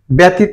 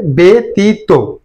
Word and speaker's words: ব্যতীত: অনেক সময় প্রভাব ফেলে এখানে ব্যতীত না হয়ে উচ্চারণ হবে বেতীত অর্থাৎ জফলা থাকার কারণে একার যুক্ত হবে পি তু ব্যতীতু এখানে